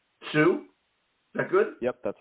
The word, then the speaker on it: Tsu: per you got it you got it right Sue that good yep that's